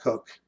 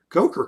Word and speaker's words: Koch: pronounced cook dave cook it's spelled koch but pronounced coke i'm sorry coke coker cook one of those